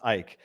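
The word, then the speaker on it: Icke: on on Twitter and I just saw David dick David dick I was like oh I don't know who that person is but this sounds familiar okay forgiving the stupidity um it's spelled Ike and it's pronounced Ike yes yes yes okay we're gonna have to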